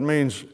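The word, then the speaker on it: מין: the word mean is pronounced mean like me m-e-a-n but it's it's spelled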